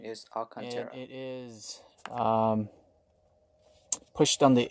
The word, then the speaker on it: Alcantara: wires along the contour here yes the correct pronunciation is all concern it is pushed on the inside and under